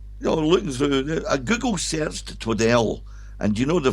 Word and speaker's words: Twaddell: But I know it's Twaddell, and if I slip and say Twaddle, there's a reason behind it and I'll explain the reason.